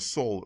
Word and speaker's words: Seoul: But the name Seoul, that's how you pronounce it, Seoul, refers to Sol Invictus.